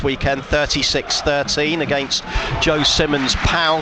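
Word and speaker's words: Pau: Yeah, Toulon won here last weekend, 36-13 against Joe Simmons' POW side, or Poe, as I think some people pronounce it.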